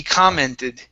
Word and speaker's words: commented: So the stress is at the very beginning. He commented. He commented.